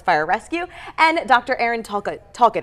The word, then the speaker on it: Talcott: Aaron Talcott. Am I pronouncing that right? That's correct. Okay, Talcott.